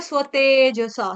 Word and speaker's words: स्वतेजसा: फिर है स्वतेजसा, स्व, स्व, स्व, स्वयं वाला स्व है यहाँ पे। स्व, सव नहीं बोलेंगे इसको, क्या बोलेंगे? क्या पढ़ेंगे? स्व पढ़ेंगे इसको, स्व।